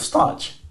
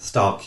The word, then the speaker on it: Starc: Literally hit 39 or 29 off Starch. Fucking mad. Stark, you mean? Stark, yes. Did you just call Mitchell Stark Starch? Stark. Why do you bang in a dead pronunciation, bro? No, I said Stark.